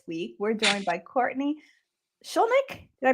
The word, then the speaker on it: Schulnick: I'm your host, and this week we're joined by Courtney Schnik. Did I pronounce that correctly?